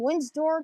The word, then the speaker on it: Windsor: train 444 now from wins door to silicon windsor to silicon okay the d is silent not actually being from